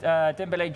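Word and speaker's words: Dembélé: It's Dembele. Because there's two accents on the E.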